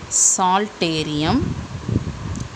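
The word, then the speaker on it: psalterium: Third part is called as omasum, also called as saltarium, P is silent, and the last part is abomasum or rennet.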